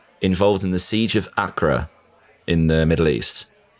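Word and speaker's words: Acre: Involved in the siege of Acra in the Middle East. Wait, isn't it pronounced Aka?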